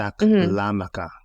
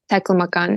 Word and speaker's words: Taklamakan: Taklamakan, if I even Yes. pronounce that properly. Yes, that's right. Could you share with Taklamakan.